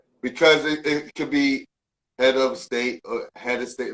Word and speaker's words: Hedastate: mac a-u-d-i-o-m-a-c-k and uh my name is spelled h-e-d-a-s-t-a-t-e head of state you know what i'm saying it should be head of state but you know how we talk yeah word the flip